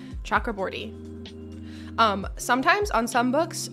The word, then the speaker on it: Chakraborty: I'm pronouncing that correctly I watched part of an interview with this author so that I could hear the way that she pronounces her own name chakra bori um sometimes on some